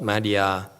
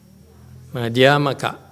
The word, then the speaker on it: Madhyamaka: I remember it's Mika, not Maka. What's taking so long? It takes you that long to Google Madhyamika versus Madhyamaka. Anyway, Maka? Huh? Wikipedia has it spelled like that, like the slide. Madhyamaka, I've heard. Madhyamaka. Okay. I stand corrected. So this is correct on the slide.